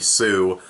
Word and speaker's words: Tsu: me Sushi's TSU a pretty sure the T is silent like tsunami so it'd be sooo and I love her